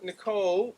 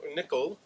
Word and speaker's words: Nicoll: was he uh uh well Nicole um nickol I think is the way the wordss pronounce it I've always said Morris Nicole here I've heard Morris nickel so nickel um little more than